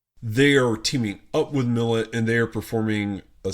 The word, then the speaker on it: Milet: Milet? I still don't know how to say her name. Millet.